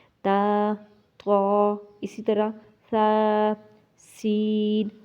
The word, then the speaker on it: س: طا، اسی طرح ثا، سین، صاد۔ اب کیا ہے، تا کو نرم، سین کو سیٹی کی آواز والا، اور صاد کو موٹا۔ اب یہ تینوں کے